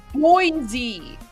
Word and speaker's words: Boise: So it's pronounced Boise.